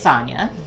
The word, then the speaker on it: Sanya: I don't want to pronounce it wrong. It's Sanya.